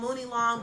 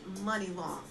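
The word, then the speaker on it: Muni Long: name is money long it's actually spelled like mooney long m-u-n-i-l-o-n-g i used to think it was called mooney long but it's actually money long now money long has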